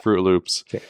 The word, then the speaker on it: Froot Loops: o t yeah yeah it's spelled with fruit like f r o o t fro Loops um so this all